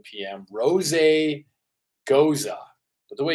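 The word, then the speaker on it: Gose: Friday May 31st 5 to 7 PM Ros goza but the way it's spelled it looks like it would be almost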